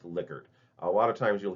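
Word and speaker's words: Likert: Um, and it is pronounced liquor. A lot of times you'll hear liyker, and there's not really anything wrong with this, but it's actually named after a person's last name.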